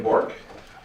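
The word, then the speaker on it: Bourque: State your name for the record and spell it. First and last name, please. It's Bork.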